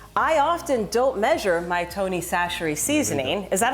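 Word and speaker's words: Tony Chachere's: I get it I often don't measure my Tony sasher seasoning is that how you say it yeah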